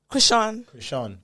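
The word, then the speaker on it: Chrisean: Krishan.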